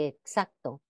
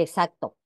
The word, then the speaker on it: exacto: simple s sin embargo en algunos casos como auxiliar y exacto y exacto y todas las voces pertenecientes a sus respectivas familias léxica Es normal la pronunciación de la x como s Incluso en la lengua